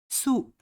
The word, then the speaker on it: سوق: سوق. سوق. Dual form. سوقين. سوقين. Plural form أسواق. أسواق. Again, letter قاف or Q is silent.